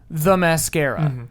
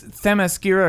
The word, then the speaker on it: Themyscira: The whole time in the movie, it sounds like she's saying the mascara. Okay, all right. But it's Themyscira or Temescira. I like. It's spelled okay. like T-H-E Miskira.